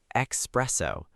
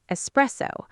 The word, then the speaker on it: espresso: Because one time I said espresso. Everyone looked at me. Many learners say that. The correct pronunciation is espresso, no X.